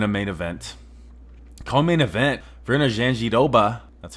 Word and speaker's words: Virna Jandiroba: Co-main event, Virna Jandiroba.